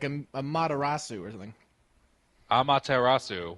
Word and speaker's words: Amaterasu: I feel like there's a more Japanese way to say it, like a Materasu or something. Amaterasu. Well, it's Japanese, so you can pronounce every syllable. Yeah, you got to really get in there.